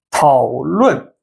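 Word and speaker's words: 讨论: OK，讨论讨 the third tone. Okay, the third tone. 了问论 the fourth tone, fourth tone 讨论 it means to discuss something.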